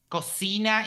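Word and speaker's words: cocina: Coina is uh like a pig. Okay. And coina is kitchen. Yeah. Cosina is kitchen.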